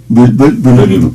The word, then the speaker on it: volume: Volume. Sí. La U en francés, o sea, U, es un sonido que también se usa en alemán.